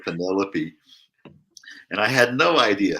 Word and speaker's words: Penelope: You know, I read the Iliad and the Odyssey in the 6th grade, and I, you know, for years I thought Odysseus's wife's name was Penelope instead of Penelope.